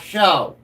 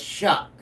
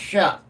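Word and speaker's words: Shough: It's Tyler Shuck, not show. It's Shuck. It is pronounced Shuck.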